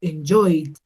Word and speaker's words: enjoyed: El que sigue, enjoy, termina en el sonido de la I. La I también es una vocal, entonces lo pronuncio con una D. Yo digo enjoyed, ese verbo disfrutar.